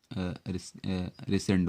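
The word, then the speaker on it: rescind: रिसेंड बोलते हैं। यहाँ सी साइलेंट है, रिसेंड बोलते हैं।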